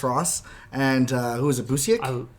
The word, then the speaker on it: Busiek: There's Marvels by Alex Ross and who is it, Busiek? Busick, yeah. Yeah, That's how you pronounce and it.